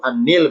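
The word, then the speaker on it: النيل: Ini garis biru An-Nil bacanya.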